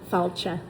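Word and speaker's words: fáilte: The nicest people in the world, and just that feeling of welcome, and falcha is how they say it in Ireland.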